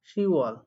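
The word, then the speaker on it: 시월: উচ্চারণটা হয় সির ওয়াল 10 এ কি বলা হয় শিফ কিন্তু শি হবে আপনারা জানেন যে 10 এর ক্ষেত্রে বাথরুমটা হয় না শি ওয়াল 11 কে কি বলে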